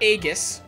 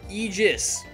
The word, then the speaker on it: Aegis: Like I said, I could stretch the, and it makes sense, because, and that's how it's pronounced, by the way. It's not Aegis, or Aegis, it's Aegis.